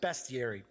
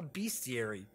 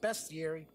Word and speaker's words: bestiary: theory and yes I guess it really is pronounced best Yuri I have always four years forever I thought I was called a bestiary because it's monsters and beasts in it but